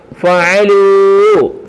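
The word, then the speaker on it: فعلوا: ലാമ് ലു ലു ലൂ, ഫഅലൂ ഫഅലൂ. കണ്ടോ, ഫഅലൂ, ഒരു അലിഫുണ്ട്. ബഹുവചനത്തിന് ശേഷം സിംഗുലർ വേർഡിന് ശേഷം ഒരു അലിഫിനെ എഴുതും എക്സ്ട്രാ. അതിനെ ഉച്ചരിക്കത്തില്ല, പറയത്തില്ല, മൊഴിയത്തില്ല.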